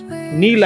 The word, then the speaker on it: Neil: আজকে আমাদের গন্তব্যস্থল ভরতপুর বীচ যা মেল বা নীল আইল্যান্ডে অবস্থিত। ইংরেজিতে এই আইল্যান্ডটির বানান হল এনই আইএল। কেউ এটিকে উচ্চারণ করে নেল বলে আবার কেউ উচ্চারণ করে নীল আইল্যান্ড বলে।